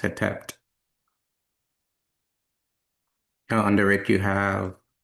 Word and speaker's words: Hetep: And this is pronounced Hetep.